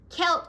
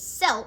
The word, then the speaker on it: Celt: interestingly Halloween traces back to the ancient Celts celt can also be pronounced as cell by the way but celt is the standard